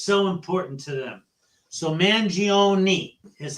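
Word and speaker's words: Mangione: I want to clear up is how you pronounce his last name mangioni now everyone wants to say mangion I that's the first thing because someone's name is so important to them so manoni is how his lawyer pronounced it okay and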